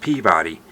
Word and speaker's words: Peabody: Out west, it's pronounced Peabody.